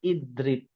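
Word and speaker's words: اضرب: Ini sebenarnya kalau dibacanya kalau berhenti fakulna idrib dibacanya idrib. Karena huruf ra-nya berkasrah ya, maka hamzahnya menjadi kasrah.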